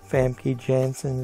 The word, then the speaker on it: Famke Janssen: Jeffrey Dean Morgan, Famke Janssen, is how you pronounce her name.